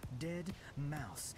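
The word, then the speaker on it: Deadmau5: He wants people to pronounce his name Dead Mouse.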